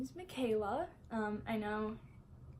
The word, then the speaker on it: Mikhaila: so so first off uh my name is Mikayla um I know it's spelled really different um thank my mom for that thanks mom uh-huh but yeah so it's felt a little bit different but it's pronounced Mikayla so um and I just wanna let you